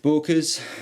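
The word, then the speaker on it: Böker's: nice so these are my Booker's is how you pronounce it believe it or not because of the unlit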